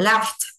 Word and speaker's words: laughed: Paul laughed. Cái chữ G này là âm F. Vậy ED này sẽ đọc là âm T. Laugh T. Laughed.